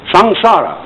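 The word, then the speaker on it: samsara: called by this important term in sanskrit s-a-m-s-a-r-a sang-sara it's pronounced sangsar although sangsara is represented in uh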